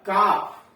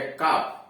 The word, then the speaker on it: calf: मरहम, CALF काफ, यल silent है, काफ पढ़ते हैं काफ।